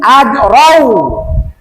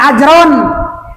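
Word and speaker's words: أجرا: Malayas alukum ajrau, jangan ajron, jauh, ajrau, ajrong. Nah, kalau ajrong ihfa, kalau ajrau baru idgham, gunanya kurang. Kenapa dibaca ajrau? Sebab ada tanwin patah, kedepannya ada huruf wa.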